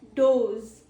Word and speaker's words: does: The plural form of it is dos. Dos. It is rhymed as toes.